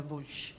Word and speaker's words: Voljč: Please tell us how to pronounce it. Voljč.